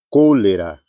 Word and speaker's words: cólera: em espanhol, café, café, cólera, colera. Então, mesmo tendo aqui o acento, né, la tilde, a letra E não vai ter som de E, como acontece em português. Então, o acento indica sílaba tônica.